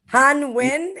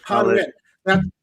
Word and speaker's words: Han Win: No, it's not Han. Pardon me? Han Win is what Kathy Powers is saying. Yeah, you can pronounce it like Win. Thank you, Kathy. Yes, Han Win. That is correct.